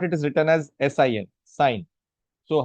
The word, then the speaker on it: sine: So first is sine. In short, it is written as SIN, sine. So how do you pronounce it? Pronounce it as sine.